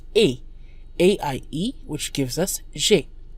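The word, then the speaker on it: j'aie: This sounds the same as the present indicative, I have. J'ai, J apostrophe A-I, but as we can see, the subjunctive form is spelled differently with an E on the end.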